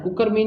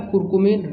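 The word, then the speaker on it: curcumin: कुकरमीन यहाँ पर थोड़ा गलत लिखा हुआ है, इसका जो सही जो उच्चारण होता है वो होता है कुरकुमीन, रे ऊपर लगा होता है।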